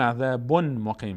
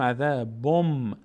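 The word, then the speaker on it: عذاب مقیم: نمیگیم عذابون مقیم، میگیم عذابم. بن نون تلفظ نمیکنیم، به جای نون میم تلفظ میکنیم که حرف بعدیش هست. عذابم مقیمون. این مثال یا و نون و میم.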